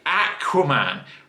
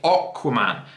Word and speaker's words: Aquaman: Okay, so in England, we say Aquaman, but you guys in America and Australia say Aquaman. It isn't aqua. We pronounce it aqua, as in aquarium.